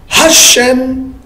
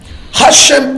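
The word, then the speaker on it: השם: Hashem Ehad. Hashem. Hashem Ehad. Hashem Ehad. Peut-être que je n'ai même pas bien prononcé, parce que les H ici, ça a un son guttural. Ça sort de la gorge.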